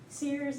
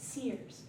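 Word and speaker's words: SIRS: Um, Riselle came on later and so uh they are Sears is S I R S because insider has two I's in it. Um, so it's pronounced Sears because they see things that even us older folks don't see.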